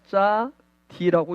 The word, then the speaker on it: צדי: 근데 요 짜디는 소리 나는 대로 읽으면 짜디라고 읽습니다.